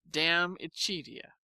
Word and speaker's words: De Amicitia: We've finished Livy and De Senectute, and are now engaged with De Amicitia, pronounced Dam Ichidia.